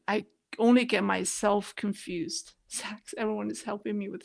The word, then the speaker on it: Sachs: okay somebody thank you Sachs yeah it makes sense sax Goldman Sachs that's right oh my goodness